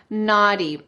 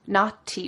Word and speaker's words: naughty: And in this conversation, Heidi Klum says naughty, naughty, with a clear T sound. But in American English, we would say naughty, naughty.